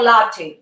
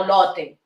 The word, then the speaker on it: Lotte: very easy to pronounce lotte is lore or latte latte no lotte lotte world okay the next one